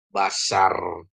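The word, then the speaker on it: בָּשָׂר: Ada bet, ada kamats. Ini jadi a ya. Ini jadi a juga. Jadi ini jadi bacanya apa? Basar.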